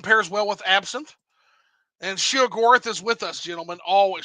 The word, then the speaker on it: Sheogorath: Sheogorath, right? Sheogorath is how they say it in Morrowind. Shigarath. Okay, yeah, it is. Oh, I forgot. I'm being an Inwa, aren't I? You're using the Oblivion pronunciation there.